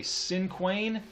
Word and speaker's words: cinquain: So a 5-line stanza is called a cinquain. I will spell that here at the top for you.